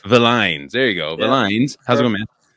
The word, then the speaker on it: Villines: Separate the L's, Villines. Villines.